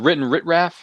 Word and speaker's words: WrittenwritRalf: Is it WrittenwritRalf?